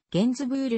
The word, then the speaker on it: Gainsbourg: チェーンなどで聴ける本人の発音はゲンズブールに近いフランス語の発音